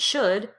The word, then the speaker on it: should: And there are 2 other words that go along with it, could and should. Could, should, would, they all rhyme and they both have that silent L.